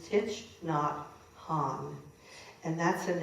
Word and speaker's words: Thich Nhat Hanh: his or done anything of his, but it's Thich Nhat Hanh. And that's a name that Ari had to teach me how to pronounce.